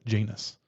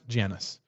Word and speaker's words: Janus: If you're in England, they say they pronounce it Janus, but here in the US we call it we say Janice.